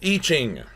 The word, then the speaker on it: I Ching: It says I Ching, but it is pronounced I Ching.